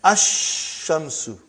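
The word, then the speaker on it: الشمس: And then ash-shamsu. No al, no lam. When I say, I shouldn't say al. I should say no lam.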